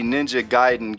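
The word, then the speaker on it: Ninja Gaiden: so this is the Ninja giden gayen however you want to say it I I call it gayen but I think it's actually pronounced ninja giden but it says hyperactive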